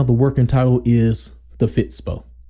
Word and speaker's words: Fitspod: working title is the fits PO the D is silent but yeah so talk